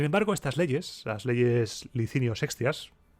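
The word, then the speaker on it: Licinio Sextias: estas leyes las leyes licinio sexas pronuncio la c así porque las digo en castellano no se quedaban aquí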